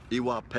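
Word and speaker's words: ìwà pẹ̀lẹ́: balance everything's about wisdom iwa p iwa p like P the great soccer player from Brazil that name yeah similar to that name p but it means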